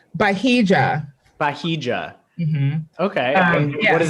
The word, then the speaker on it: Bahija: How do you say it? Bahijan? Oh God, no. Bahija.